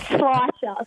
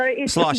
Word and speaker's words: Schleicher: There's just a bunch of letters in there that shouldn't be there. It's Schleicher. So Schleicher.